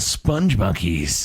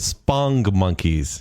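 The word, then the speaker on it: Spongmonkeys: Is it Sponge Monkeys or is it Spong Monkeys? I think it's pronounced Sponge Monkeys, but there's no E, I found out when I looked it up.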